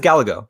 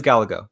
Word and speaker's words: Gallego: So it is Gallego. It is Gallego. It's Gallego.